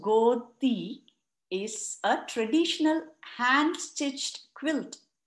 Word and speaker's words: godi: Godi, pronounced godi, is a traditional hand-stitched quilt made of recycled material, usually soft old cotton saris.